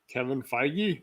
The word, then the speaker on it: Kevin Feige: up unless you can say it properly uh kevin feige there you go yeah yeah so pretty